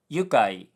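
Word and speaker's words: 愉快: And the word is indeed meant to be yukai, and Duolingo just mispronounced it.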